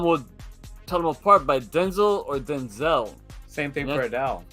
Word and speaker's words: Denzel: there real quick yeah did you know Denzel Washington would be saying his name wrong the entire time Denzel it's Denzel oh really he said it